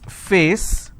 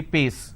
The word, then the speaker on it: face: Okay, there are some people who cannot pronounce the per sound, they replace that with a fur sound. For example, if I have a word which is face, they replace that and say pace.